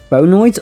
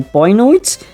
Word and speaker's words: Bionoid: So there we have the bonoids or bionoids. It is a very odd way of spelling it, so you can be pronounced either way.